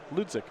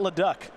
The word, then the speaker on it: Leduc: just too fast Ludwik it's Samuels last name Lucic thank you I was wondering now I know I'm surprised that's pronounced that way I'm glad I asked because I would have never gotten it right Samuel Lucic boom safe I ask now that that's why not look duck not that that's that's